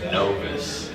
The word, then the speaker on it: Novus: So actually, the Latin root is novus. Okay. So, but we always, we just wanted to have our own little spin on it. So we started pronouncing it NOVUS, and it's Latin for fresh.